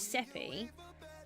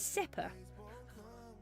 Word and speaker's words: Seppi: So I've been pronouncing his name as Seppi, but actually it's Seppa.